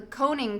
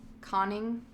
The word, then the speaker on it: conning: which looked like the coning tower of a vast submerged submarine. Is that how you say that? Coning. Conning. It's spelled like conning. Vlad and Ursula con like convict.